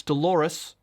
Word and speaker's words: Dolores: what you're talking about the name rhymes with the female body part it's dolores rhymes with clitoris the way he pronounced